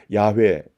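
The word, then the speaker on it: 야훼: 우리가 누리는 것입니다 7절에 야외에 요와 같은 말입니다 야외는 히브리 발음이 고 요 호 와 를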